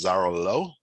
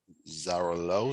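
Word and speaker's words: Xarel·lo: break rather this is zara low zara low it's how you pronounce it uh it thrives in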